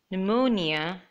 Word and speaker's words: pneumonia: spelled that way in these words P is silent pseudonym psychology pneumonia telephone alphabet and paragraph